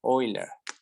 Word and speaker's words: Euler: Es que se escribe Euler, pero se pronuncia Euler. Ese es el detalle. No se dice Órale. Euler.